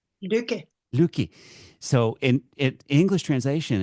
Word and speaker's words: Lykke: Um, and your middle name, if I can pronounce it right, Liicki. Luki.